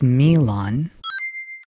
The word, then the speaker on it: Milon: Well, in Japanese it's Milon.